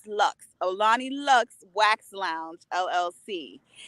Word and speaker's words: Luxxe: not looks looks right looks like luxury but like Lux with two x's because you gotta so